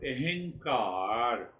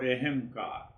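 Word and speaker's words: अहंकार: In Eastern wisdom it is called ahankar. Ahankar or ahamkar. Aham, two syllables. Aham and akar. Aham means I am. Akar means the shape.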